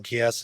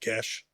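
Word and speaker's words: geas: I know some people pronounce it Gies. It's a Celtic word. It's pronounced Gesh or Geese. Some people pronounce it Geese. No, not a fan of that.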